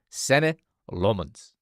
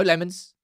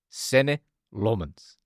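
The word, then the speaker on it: Senne Lammens: you pronounce his name, but that's how you pronounce his name. Sen Lmens. All right. No lemons. Sen Lmens. All right. One more time. Everyone say it at the same time. Sen Lmens.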